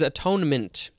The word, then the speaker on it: atonement: as described to me one way that you can sort of say it is at one mint that's how it's spelled at one mint and it looks like that is actually where the word comes from all right so this